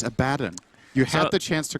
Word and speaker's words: Abaddon: Abaddon not level 6. Good. But he will You be said shortly. Abaddon again. It's Abaddon.